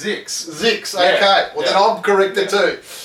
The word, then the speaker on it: ZYX: Also here, I'm just having a look at ZYX, I used to call it, but now they pronounce it Zooks. Zix. Or Zix, Zooks. Lindigo Rizzo corrected me, actually. Did she really? She said it's Zix.